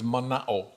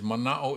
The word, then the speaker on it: mana'o: hawaiian word uh and that hawaiian word is manao uh and for those of you unfamiliar with the hawaiian language manao is spelled m-a-n-a-o and what manao refers to um